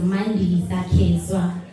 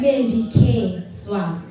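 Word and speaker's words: Mandi Kswa: My name is Mandi Sakeswa. So the K on Instagram, it's spelled as in K Swa. So it's Mandi K Swa.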